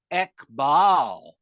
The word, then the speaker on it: Ekbal: that they caught Baba's use of the words Ekbal, one hair, rhyming with Iqbal.